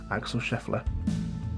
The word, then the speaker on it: Axel Scheffler: name wrong before but yet there we go Axel Scheffler yeah I did say his name wrong earlier on in the video I'm sure